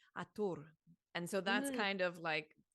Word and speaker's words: Hathor: mm, But the pronunciation of Hathor came through recently as Atur.